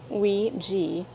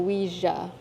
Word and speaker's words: Ouija: Pronounced Ouija or Ouija.